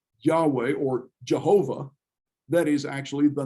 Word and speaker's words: Jehovah: that actually pronounced well what they did was they took the vowel sounds from the word that the jews pronounced which is the hebrew word for lord adonai and plug the vowel sounds into those consonants and you get jehovah but jehovah's not a hebrew word it's a made up